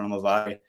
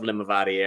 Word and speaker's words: Limavady: with the name of Limavady? Or is it going down easy, or is it not very easy for the Americans out there? Out in America, they've got T-shirts printed with the syllables Limavady.